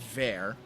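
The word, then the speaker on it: Vor: and that is there it looks like voor but it's pronounced ver and there is the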